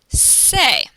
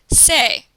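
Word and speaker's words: C'est: And to say it's, you would say say. C''est is pronounced say.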